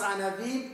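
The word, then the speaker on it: ענוים: On écrit Aniyim, les pauvres, et on prononce Anavim, ceux qui sont humbles.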